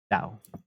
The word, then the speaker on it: Tao: which is d-a-o and regardless of the case uh you pronounce it tau and so dao the